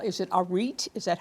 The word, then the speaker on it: arete: It's called the Righteous Sisterhood, but they are always striving to reach something called, is it arete? Is that how you pronounce it? Arete.